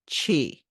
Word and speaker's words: qi: So let's talk about chi. Now, I spell it QI. That's how you spell it in traditional Chinese medicine. Language, if you're reading it, it's in pinyin.